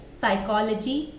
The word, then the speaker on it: psychology: So for example, in English we have words like psychology, psychiatry, psychological, psychotic or pseudo. In any of these words, we don't spell letter P. It is always silent.